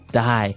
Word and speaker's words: dye: you're dying it okay dye so it's pronounced exactly the same way as you know to die to not live anymore